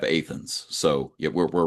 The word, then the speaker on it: Athens: We have a Versailles that we pronounce Versailles, Okay. and we have instead of Athens, we have Athens.